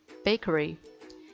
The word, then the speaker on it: bakery: 3번 빵집 bakery. 이거 베이커리라고 하면 안 되고 bakery라고 알발음 정확하게 하셔야 돼요.